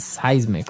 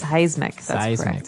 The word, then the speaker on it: seismic: It's pronounced seismic, right? Seismic.